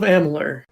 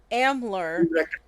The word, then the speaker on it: Amalur: Oh, somebody pronounce this. Kingdoms of Amalur. Amalur.